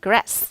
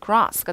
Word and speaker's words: grass: 미국은 grass, 영국은 grass가 되는 거고요.